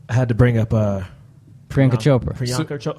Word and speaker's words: Priyanka: And I had to bring up Priyanka Chopra.